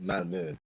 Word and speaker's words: Malmö: Actually, it's pronounced Malmö.